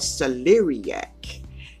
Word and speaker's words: celeriac: And thank you to my beautiful supporter who kind of spelled out that word so I can pronounce it the correct way. Thank you, honey. It is called Celeriac.